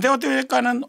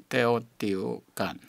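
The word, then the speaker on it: Teotihuacán: 테오티후아칸. 아니 근데 저 교수님이 다르게 발음하시는 거예요. 저는 테오티후아칸 그러잖아요. 깐에 액센트를 주는데 우리 선생님 말씀은 테오티후아칸 그러는 분도 있어요. 그게 더 맞대요.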